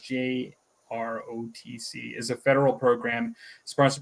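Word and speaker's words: JROTC: junior Reserve officer training corpse the jrc commonly pronounced jroc is a federal program sponsored by the United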